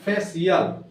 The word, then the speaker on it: facial: Example लिखते हैं FACIAL, इसको पढ़ते हैं फेशियल। उसी तरह एक और एग्जांपल है MUSICIAN, म्यूजिशियन। आया? तो इस तरह से सी के बाद अगर आई ए है तो आपका उसका प्रोनाउंसिएशन तालवी स होता है।